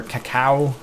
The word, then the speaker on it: cacao: But basically, it adds cocoa into the game, or cacao. I've heard some people pronounce it that way, but it adds chocolate